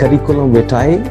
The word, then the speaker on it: curriculum vitae: Next word is करिकुलम विटाए, एंड the right pronunciation is called the करिकुलम विटाए।